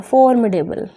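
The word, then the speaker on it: formidable: ए बी एल I read करोगे तो pronunciation में फॉर्म्सीडेबल होता है फोर में टेबल ठीक है दी बी थोड़ा साइलेंट ही रखते हैं फॉर्मेटेबल अच्छा और इसके जो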